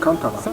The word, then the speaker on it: Katala: Ma maman m'a dit, on dit ça Kantala, ça s'écrit Katala, il n'y a pas N. Maintenant pour mieux le prononcer, j'ai ajouté le N.